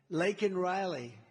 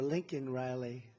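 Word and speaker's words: Laken Riley: the Biden migrant crime Lake and Riley and you know uh Biden was unable to pronounce her name c CER Lincoln Riley and this was right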